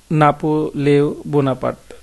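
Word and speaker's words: Napoléon Bonaparte: তার নামের ফরাসি উচ্চারণ কিন্তু নাপোলেও বোনাপার্ট।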